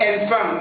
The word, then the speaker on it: enfant: On dit enfant, c'est-à-dire la lettre E ici prend la prononciation A. Enfant. Et attention, il faut noter aussi que ici, la lettre T ne se prononce pas. La lettre S ne se prononce pas. Alors, la vraie prononciation du mot, c'est enfant.